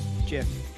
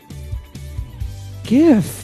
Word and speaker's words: GIF: What is the right way to pronounce GIF? Jif. Jif? GIF.